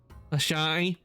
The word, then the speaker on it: Ashai: My name is Ashai. Yes, that's how it's pronounced.